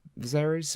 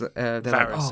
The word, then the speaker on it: Varys: And they go, because what happened, right, is that Viserys. Oh fuck it! I'm getting his name wrong. Shit, Viserys, the eunuch bald guy. Yeah. Yeah. And he's Varys, I think his name is. Varys.